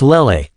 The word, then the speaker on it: Lele: I'm lucky that Rory and Lei, Dakenov pronounced Leelle wrong. It's Lele.